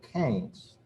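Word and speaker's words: Keynes: this is kings uh if you ever forget how to pronounce that word just remember uh what cain said he said he would tell people cain's it rhymes with brains and uh he thought that uh he was a pretty smart guy and he he liked the fact that his name uh rhymed with brains um to understand the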